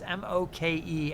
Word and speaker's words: Moke: All right, that's M-O-K-E, and I believe the pronunciation for the Hawaiian name is Moke.